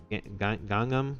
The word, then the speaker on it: Gangnam: Or is this Gangnam? Gangnam, that's how it's pronounced. Gangnam style? Gangnam style, exactly, just like the song.